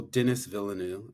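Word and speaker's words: Denis Villeneuve: Um, I'm gonna butcher their name. Well, Dennis Villeneuve, is that how you pronounce his Mm-hmm.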